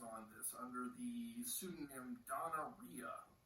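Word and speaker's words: Donna Rhia: this under the pseudonym donnaria like rhymes with gonorrhea um so this is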